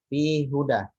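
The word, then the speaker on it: فيه هدى: Nah, kalau dalam riwayat Hafs tidak boleh idgham.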